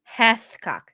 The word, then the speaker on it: Hathcock: Hath. H-A-T-H. Chicken. You're going to change it now. Like Gamecock? It's Hathcock. Hugh Hathcock.